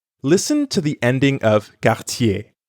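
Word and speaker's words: quartier: to the ending of cartier it's pronounced the same as the beginning of the english word yell yey i'll have to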